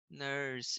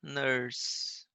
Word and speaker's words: nurse: Lembrando que, né, o E no final das palavras, né, geralmente a gente não vai falar ele, né? Não vai pronunciar. A gente exclui ele da pronúncia, tá? Então a gente vai falar tipo nurse, tá? Vai parar no S ali, nurse, tá?